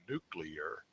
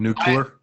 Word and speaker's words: nuclear: Or maybe she's an advocate or has investments in something nuclear, and so notice how I pronounced it correctly, nuclear, as opposed to nuclear.